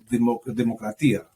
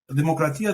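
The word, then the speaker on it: δημοκρατία: Demos, Demokratia, the word, it's actually in two syllables. It's cut in two. And it's actually one when you say it, Demokratia.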